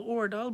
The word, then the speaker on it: Aardal: So his name is Karl Ordal, but it's spelled AARDAL.